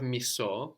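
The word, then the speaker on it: μισώ: So we have miso, which is I hate, with the accent on the end.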